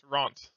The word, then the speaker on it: Ront: I may have butchered it when I told it to you, but I believe it was It should be Ront. It's Ront. Ront.